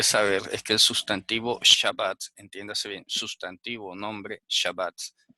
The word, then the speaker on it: Shabbat: Shabbat se escribe así en hebreo, tiene dagesh en la segunda letra.